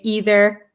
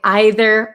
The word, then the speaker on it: either: I'm from America, so I say either and neither. But people from England, British people, or some people in America too, say either or neither. So that depends on where you're from, what pronunciation you'd like to use. So both are correct.